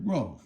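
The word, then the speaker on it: 肉: Ro is fourth tone.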